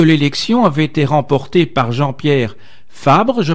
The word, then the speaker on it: Jean-Pierre Fabre: Alors, celle-ci a en effet très rapidement soutenu que l'élection avait été remportée par Jean-Pierre Fabre, je prononce bien?